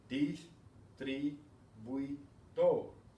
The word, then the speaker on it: distribuidor: Okay, distribuidor. 4 syllables.